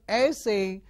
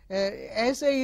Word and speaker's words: essay: When you stress on the first syllable, it becomes essay. Essay is a short piece of writing for student, and most of the time students are asked to write essay on something. And if you change the stress to the second syllable, it becomes essay. Okay, it is a literary term meaning to try to do something.